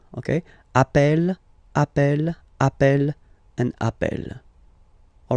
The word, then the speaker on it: appelle: You tend to pronounce it like really open. That's the reason why you pronounce it appel. Okay, appel, and appel.